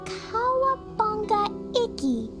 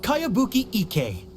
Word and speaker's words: Kayabuki Ike: By Kawabunga Iki. Yoimiya, this is a really strange name. Who's this Kawabunga? It's pronounced Kayabuki Ike.